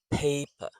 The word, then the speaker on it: paper: So the stress and schwa rhythm paper.